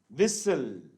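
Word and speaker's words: whistle: और विसल, विसल में क्या साइलेंट है, T साइलेंट है, विसल में T साइलेंट है हमारा।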